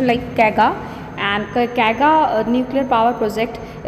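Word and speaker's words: Kaiga: And then the fourth one is here कैगा, okay कैगा, इट इज़ the pronunciation like कैगा।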